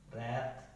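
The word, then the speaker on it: wrap: है किसी वर्ड में, अगर डब्ल्यू किसी भी वर्ड में आर के पहले आता है तो जो वो है डब्ल्यू है वो क्या हो जाएगा साइलेंट हो जाएगा। जैसे रॉन्ग, राइट, रैप, ठीक है।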